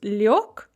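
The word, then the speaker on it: лёг: Liech, to lie down, becomes liok, spelled liog.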